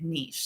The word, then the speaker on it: niche: And when I see that E at the end, I can't help but pronounce it niche.